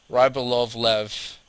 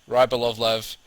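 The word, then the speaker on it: Rybolovlev: Let me pronounce this correctly. Rybal. Ryb. What? Rybalovlev. Rybalovlev.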